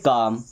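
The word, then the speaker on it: calm: बाद में एम तो एल यहां पर भी साइलेंट हो जाएगा तो सी ए एल एम इसे पढ़ेंगे काम बी ए एल एम इसे पढ़ेंगे बम पी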